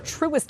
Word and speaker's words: Truist: It's Truist Bank, Truist.